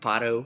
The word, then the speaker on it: Fado: And because I'm Portuguese, probably our most recognizable genre would be Fado music, or I guess for like an American pronunciation would be Fado.